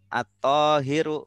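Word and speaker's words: الطاهر: Iya, ini isim fa'il dari toharo yathuru. Nah, kalau suci, yang suci, tohirun, alma'ut tohiru, begitu. Suci. Jadi ikutnya pola fa'ilun. Jadi bacanya At-Tahiru begitu. Karena ada al jadi tidak tanwin.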